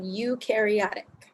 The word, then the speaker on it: eukaryotic: first type is called eukaryotic that's how you pronounce that word the EU EU you pronounce u like Europe it means true and